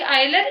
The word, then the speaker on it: Euler: देखो ये जो EULER है ना, मैंने लिखा है, इस वर्ड को काफी तरह से प्रोनाउंस करते हैं, तो आप एक बार गूगल पे चेक कर लेना। आयलर बोलते हैं वैसे तो इसको।